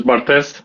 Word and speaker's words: Bartez: And I want to make sure to say do you go by Bart's? How do you say It is Bartez.